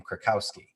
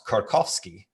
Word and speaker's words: Kurkowski: was polish so he heard my name krakowski and he's like oh it's korkowski it's like that's how you say it and uh you know in the polish dialect and i was like